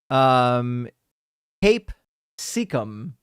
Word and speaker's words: capsicum: But apparently, I think it's supposed to be pronounced the way that it's written up here. I've got the wiki page pulled up with the pronunciation instructions, and it says Cape Secum.